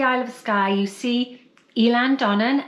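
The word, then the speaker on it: Eilean Donan: of Skye, you see Elan Donnan, and I think it might even be pronounced Island Donnan in Gaelic. And anyway, so we like the name Elan. It's spelt in a peculiar way, so people always get it wrong because the Gaelic language is like that.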